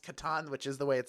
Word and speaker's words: Catan: Katan box it might as well be can't pronounced Katan which is the way it said I've read